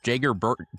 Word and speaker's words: Jager: Maybe a little off the board, but I'm going to go Kentucky center Jager Burton. It is pronounced like Mick Jagger.